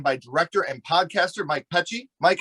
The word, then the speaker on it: Pecci: The English way is Pecci. Pecci.